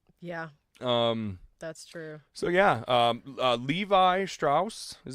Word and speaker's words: Levi Strauss: that great so yeah that's true so yeah Levi Strauss is how you pronounce it L VI is the ticker symbol